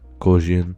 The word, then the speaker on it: Gaussian: And then motion blur type, Gaussian, that's how you pronounce it.